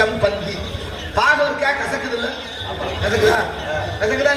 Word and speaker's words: சம்பந்தி: சம்மந்திகளை உச்சரிப்பே தப்பு. சம்மனா நல்ல மந்தினா குரங்கு, வாங்க நல்ல குரங்கேங்கிறான். அவரை ஆமா குரங்கேன்னு சோறு நின்று போறாரு. அப்படியா சொல்றது? தமிழ் உலகத்துல நம்ம அப்படி சம்மனா நல்ல, பந்தம்னா உறவு, வாங்க நல்ல உறவேன்னு கூப்பிடுறோம். சம்பந்தி பாகவர்க்கா கசக்குது இல்ல?